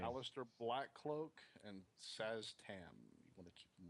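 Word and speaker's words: Szass Tam: Alistair Blackcloak and Saz Tam. You want to keep them away from that, guys. Big time. Saztan? Saz Tam. It's hard to pronounce his name.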